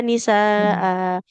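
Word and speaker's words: نساء: Kemudian apabila ada huruf hamzah berharokat tanwin fathah di akhir, kita wakof ya, jadi dibacanya panjang. Wa nisaa.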